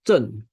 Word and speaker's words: Zhen: It's called Zhen. ZKGN is pronounced as Zhen.